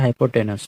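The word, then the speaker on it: hypotenuse: ठीक है, स्पेलिंग थोड़ा सा इसका ENUS होता है लेकिन बोला जाता है हाइपोटेनस।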